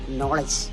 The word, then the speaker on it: knowledge: ഉച്ചാരണത്തിലേക്ക് കടന്നു വന്നപ്പോഴാണ് രസം അത് ഉച്ചരിച്ചത് എങ്ങനെയാണെന്ന് അറിയാമോ നോളജ് ശരിക്കി പറഞ്ഞാൽ ആദ്യം തിരഞ്ഞെടുക്കപ്പെട്ട കെ അവിടെ ഔട്ടായി അവന് ഭയങ്കര വിഷമം തോന്നി